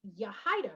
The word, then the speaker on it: Yahida: My name is not pronounced easily if you like look at the actual spelling of my name, but once you get it down, it's Yahida, right?